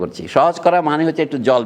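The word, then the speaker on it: sujet: আপনি দেখেছেন ফরাসি ভাষা সাবজেক্টকে বলে সুহে বুঝতে পারেন ইংরেজি বানান বলছি। এস ইউ জেইটি। টিটা উচ্চারণ হয় না সুসরে পর্যন্ত উচ্চারণ হয় এটা অনেকটা বাংলা সহজের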